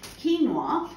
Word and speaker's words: quinoa: Now, quinoa, and it does it, you just have a look at how it's actually spelled. It's pronounced absolutely nothing like that.